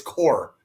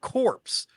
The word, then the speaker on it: corps: That's how you pronounce it. It's core.